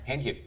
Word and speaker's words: Hähnchen: Well, how do you say it in German? Hähnchen. Hähnchen.